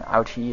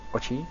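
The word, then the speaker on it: Ōuchi: Okay, so I just heard that Clan Ouchi is actually pronounced Clan Ochi or something similar.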